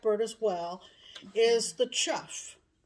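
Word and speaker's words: chough: as well is the chuff c-h-o-u-g-h but it's pronounced chuff and it has an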